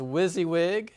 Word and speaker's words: WYSIWYG: w-waahhhhh siwwy gee what's that okay so usually pronounced this as WYSIWYG so that's an acronym for what you see